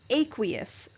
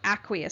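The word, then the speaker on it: aqueous: water is the solvent we call it an aquous or aquous solution I've heard it pronounced both ways and that just means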